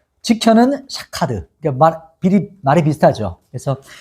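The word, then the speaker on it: שֹׁקֵד: 가지는 살구나무는 샤케드, 지켜는 샤카드.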